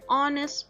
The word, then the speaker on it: honest: has other next silence these are the examples of silent h words an hour an honest boy and hair and a although it starts with heish for all these words but remember we are focusing on the sound so an hour and